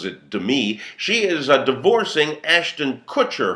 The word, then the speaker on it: Demi: Well, Demi, pronounces it Demi, she is divorcing Ashton Kutcher, her husband of 6 years, who is 16 years younger than she.